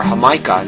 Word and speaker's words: jamaica: are dried H flowers the word is spelled exactly like Jamaica so if you come in and look for the word Jamaica or hamah in Spanish you'll find dried hamaica flowers now let me